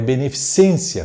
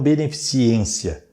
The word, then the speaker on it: beneficência: É beneficência, fazer o bem, beneficência, e não beneficiência, beneficente.